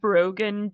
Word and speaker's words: Broghanne: Uh, so yes, I am Broen. my name is pronounced like broken but with a G instead of a K.